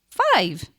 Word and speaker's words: five: it's the long i so this is how we sound it out f i v and the e at the end is silent okay so it doesn't make a sound so when you read it it goes i've five so we have some